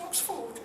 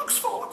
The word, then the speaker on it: Oxford: to our house and said I got into Oxford got into Oxford we're all so excited I said you've got into Oxford and said no I've got into Oxford I